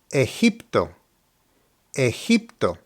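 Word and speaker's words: Egipto: Spanish pronunciation for example this word looks like Egypt so you know what country this is specifically referring to the pronunciation is ayto ehto obviously this word is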